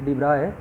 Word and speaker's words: de Broglie: तो 1924 में Louis डी ब्रॉय, English speaking लोग आमतौर पर इसको लुई डी ब्रॉय प्रोनाउंस करते हैं, लेकिन हम इसको डी ब्रॉगली ही कहेंगे।